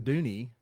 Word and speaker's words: Dunne: So anyway, Andrew Harriston and Tricia Dunne with the city of Fort Payne, not Dune. Not Dune, even though it's spelled It's Dune. Dooney, spelled like Dooney.